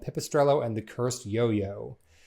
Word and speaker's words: pipistrello: So as it would be pronounced in Italian would be pipistrello. And so the double L would make the Y sound, and you'd also put the accent right before the double consonant. So pipistrello.